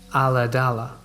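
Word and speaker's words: Ulladulla: We lived in a small rural town pronounced Aladala on the south coast of Australia.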